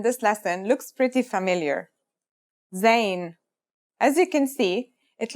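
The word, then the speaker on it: زاي: In terms of pronunciation, you say it just like the English Z as in zebra or elazer.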